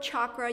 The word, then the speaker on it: chakra: Now this word chakra, you may have also heard it pronounced with a soft CH here in the West, and it's a Sanskrit word that means wheel.